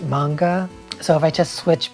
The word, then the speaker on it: manga: I mean manga, but like I've said every time I see that word, I want to say manga, but I know it's pronounced manga.